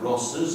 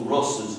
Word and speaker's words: Ross's: Ross's bike, we don't say Ross' bike, we say Ross's bike. So Ross is 1 syllable, Ross's is 2.